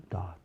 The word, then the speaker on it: dot: a si próprio, dot, segura o T, dot, não vai falar dot, o T é mudo, vamos dizer, né, dot. Não é que ele é mudo, é que ele é colocado a língua na posição para falar ele e não é falado.